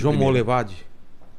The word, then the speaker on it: João Monlevade: chama João Molevade dovido você consegui pronunciar corretamente João Monlevade é não não é foi meio que um sotaque aí mas como que é João João Monlevade mon levade isso vamos levar é perto